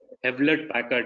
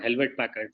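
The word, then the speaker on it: Hewlett-Packard: And I learned, very early, but the hard way, that it is Hewlett Packard, not Helvet Packard.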